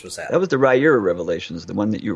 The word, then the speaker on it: Riyria: that that was the rera revelations the one that you read okay all right and in case you want to know how to pronounce that's Ry ear uh I'm so glad